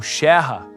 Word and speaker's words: Scherer: Para muitos, assim como no caso de Emil Clemens Scherer, ou Scherrer, como era a pronúncia correta, a reintegração da Alsácia como território alemão foi um sonho que durou pouco.